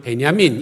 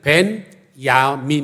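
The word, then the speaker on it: 벤야민: 배냐 민 이라고 졌죠 우리는 베냐민 이렇게 발음 하지만 원래는 밴 야 민 입니다 그런데 배는 아들이 라는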